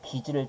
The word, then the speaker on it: 빚을: 그래서 이것도 빚을 다 갚았다가 아니라 어떻게 얘기해야 됩니까? 어떻게 발음해야 돼요? 빚을 다 갚았다. 이렇게 발음해야 되는 거죠.